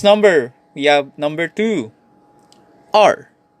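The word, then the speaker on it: 二: e e next number we have number two r r r next we have number three sun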